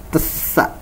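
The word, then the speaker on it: ث: Nah, ini huruf sa ya, huruf sa. Ini dibacanya TS ya, tesa.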